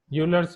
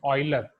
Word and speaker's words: Euler: Now, first method, Euler's method, or in foreign countries, its pronunciation is Euler.